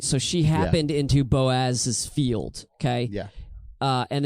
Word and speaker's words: Boaz: Um, also, can we just comment on how fun it is to say Boaz? Boaz. You kind of have to like over like bo like hit that first syllable hard and then Boaz.